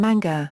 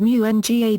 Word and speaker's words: mga: The genitive marker NG and the plural marker MGA are abbreviations that are pronounced nang and manga.